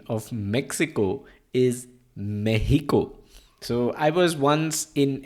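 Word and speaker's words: México: might be surprised to know but the Spanish pronunciation of Mexico is meico so I was once in an Uber in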